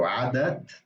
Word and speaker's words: عادة: So there's tamarbuta, which means that when you combine it with another word, so if you say عادة something or عادة something, you have to pronounce that T. So عادة, but then the next word is what?